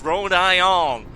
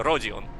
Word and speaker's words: Rodion: My favorite Limbus Company character is Rhode Ion. She's a real Texan patriot. Yeehaw, partner. That's exactly British. Yeah, Rodion. Yeah. That's how you spell it in Russian and pronounce it in Russian.